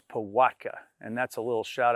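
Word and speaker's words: pałatka: Um, it's pronounced Pattka, right? There's that L with a line in it is a a Wii. So, it's Pattka.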